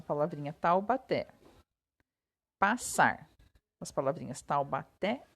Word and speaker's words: Taubaté: Taubaté passar as palavrinhas Taubaté e passar são oxítonas pois a sílaba tônica é a última significa então que a